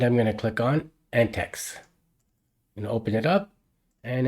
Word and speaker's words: antiX: was pronouncing it wrong I was pronouncing it antix Linux and after I published it I found out the correct pronunciation is anex Linux so I apolog to